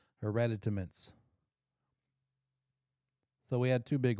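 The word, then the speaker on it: hereditaments: to it and it's called hereditamins I read it I have to count every time five syllables hereditamins so we had two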